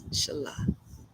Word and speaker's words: Inshallah: It might be pronounced Sheila, but it's Inshallah.